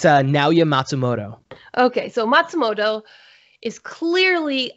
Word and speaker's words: Naoya Matsumoto: Could you pronounce the creator's name for me, please? It's Naoya Matsumoto.